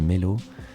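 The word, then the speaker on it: Meylo: Et puis très vite, j'ai rencontré une chanteuse qui s'appelle Melo, s'écrit M-E-Y-L-O, et j'ai adoré sa voix, une voix très grave, très solide.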